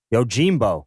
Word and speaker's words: Yojimbo: And this week, we are watching number 108, which is the 1961 movie Yojimbo, which is how it is pronounced. Yojimbo.